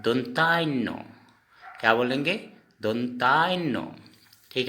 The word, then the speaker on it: ন: न, इस न को हम असमिया में कहेंगे दोनतान्नो।